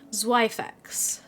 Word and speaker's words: Zweifex: Is it Zwei? Have I pronounced that correctly? Add Fex and you're pretty much spot on. Zweifex.